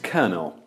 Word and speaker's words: colonel: You're watching the Today I Found Out YouTube channel, and in the video today, we're looking at why kernel is pronounced kernel.